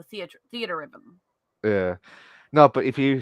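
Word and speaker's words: Theatrhythm: I think it's supposed to be theater, as in like not TER, Yeah. but theatra, like y'all spell it TRE, and it's a combination of the word theater and rhythm, so theater rhythm.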